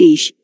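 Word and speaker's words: אִישׁ: the covenant people number 376 aish pronounced ish a man people person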